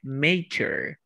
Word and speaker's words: mature: En la pronunciación se pronuncia mature. Anoten otro truco de pronunciación. ¿Dónde está mi tablita? Aquí. Todas las palabras que terminen en ure, pronúnciala como si fuera chair.